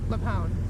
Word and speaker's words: LuPone: Why are people mad at Patti LuPone.